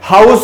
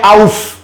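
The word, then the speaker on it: house: हाउस, हाउस लिखा है, हाउस में ह की साउंड आती है। अब बच्चे कह रहे सर इसमें भी तो H के बाद O लिखा है, तो H को साइलेंट करके क्यों नहीं पढ़ रहे, आउस। आउस कब से पढ़ा आपने, हाउस कौन पढ़ता है, हाउस ही तो पढ़ते हैं।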